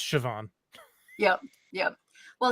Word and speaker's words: Siobhan: one character is the name is spelled s io b h accented a n and yep you look at it and you're like what? And it's just Siobhan.